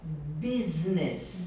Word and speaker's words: Business: tá fazendo um negócio então a pronúncia é Business fez esse s com som de z e a gente fala